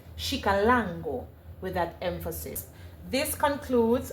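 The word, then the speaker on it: Xicalango: would be pronounced as shika lango and the emphasis is on the second a after the l with an accent over the a shik lango with that emphasis.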